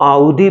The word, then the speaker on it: Audi: होता कि मैं एक आउडी, देखिए इसको AUDI, इसको हम आउडी प्रोनाउंस करते हैं, कुछ और नहीं।